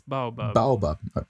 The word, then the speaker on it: Baobab: How do you pronounce this word? Baobab. Yeah. It's Baobab.